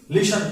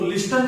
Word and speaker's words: listen: T remains silent. तो लिस्टन नहीं बोलेंगे, इसको बोलेंगे लिशन.